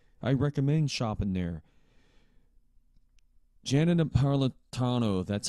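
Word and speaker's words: Napolitano: Janet Naratano, that's how her name is pronounced.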